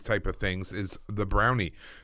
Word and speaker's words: brownie: much a Scottish thing they pronounce it closer to Bruni but I'm not gonna do that because it would sound silly coming from me yeah you need the